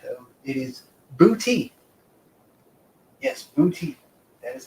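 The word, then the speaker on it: Boutte: It is not butt or butte or anything like that. Though it is booty.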